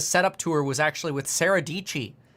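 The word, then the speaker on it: Sara Dietschy: You know, last time I did a setup tour was actually with Sarah Dici. Sarah Dici rhymes with Peachy.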